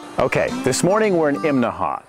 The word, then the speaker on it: Imnaha: Okay, this morning we're in Imnaha. Now that's 3 syllables, Imnaha. You have to say it that way or people in town will laugh at you.